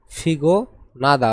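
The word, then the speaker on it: 피곤하다: ফিগ নাদা অর্থাৎ ক্লান্ত। ফিগনাদা মানে কি? ক্লান্ত। ফিগনাদা মানে ক্লান্ত। এর উচ্চারণ হবে ফিগোনাদা। এই নিউনের উচ্চারণ হেউতর স্থানে গিয়ে হবে।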